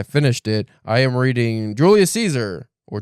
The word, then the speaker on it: Julius Caesar: I am reading Julius Caesar or Julius Kaiser as it's actually pronounced uh by one William Shakespeare right now.